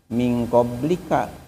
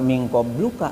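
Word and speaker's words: من قبلك: Misalnya dalam Al-Qur'an surah surah Albaqarah minqoblika enggak minqobluka kan.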